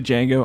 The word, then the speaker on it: Django: the new ones did Jiang or Django I stayed to Django obviously the D is silent Django is another one of